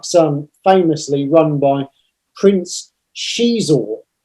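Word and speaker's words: Xizor: It goes through all of it, and then Black Sun famously run by Prince Shizor. So that's how you say it. You don't say Zizor, it's Shizor.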